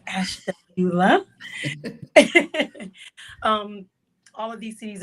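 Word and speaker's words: Ashtabula: city called Ash Tula know if you can pronounce that but it's ashula um all of these cities are in Ohio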